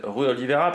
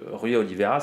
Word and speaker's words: Rui Oliveira: J'ai pas prononcé Rui, normalement je prononce pas, on va dire un peu à la portugaise, Rui Oliveira, parce qu'en France on a tendance à dire Rui, tout simplement.